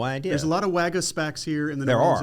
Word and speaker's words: Waggenspack: And so anyway, there are a lot of Waggenspacks. I'm a Waggenspack though. Oh, so did I say it wrong? That's all right. Okay. I get it all the time. Waggenspack. You're right. There is an N there.